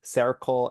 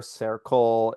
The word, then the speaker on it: Cercle: This new organization where Linda Tracy is the chief financial officer, it's called Circle Allocation Services. That's sounds like the word circle, but it's spelled CERCLE.